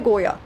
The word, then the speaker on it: Goya: Francesco de Goya. That's how his name is pronounced.